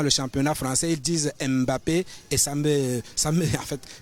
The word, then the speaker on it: Mbappé: manière MB soit écorché on ne prononce pas le m devant le B donc c'est Mbappé et c'est Bianda on